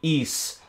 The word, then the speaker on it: Ys: zennith no rule and welcome back to the east stream and I actually pronounced it correctly this time we are on